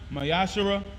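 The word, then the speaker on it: ma'aser: 3 verse 8 through1 means 10 in Hebrew and is pronounced mayash 10% of every penny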